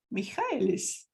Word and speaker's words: Michaelis: I am so excited to bring to you a lovely, lovely lady called Christina Michaelis.